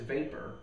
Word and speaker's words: Vapur: It's spelled with a U, right? Yeah. V, the company V A P U R.